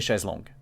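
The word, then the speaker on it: chaise longue: was doing mine yeah it's it's actually a chez long yeah except it's the english version of the chez launch because when you say it in french it's like a pool side chair by the way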